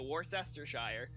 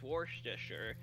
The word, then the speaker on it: Worcestershire: So, Worcestershire.